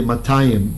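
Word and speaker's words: מאתיים: am ending i this is the dual form so this is how you say 200 right you don't say lakshmi or stay um you say matayam right it's two of mayas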